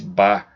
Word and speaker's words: Bach: Pronuncia-se Bach.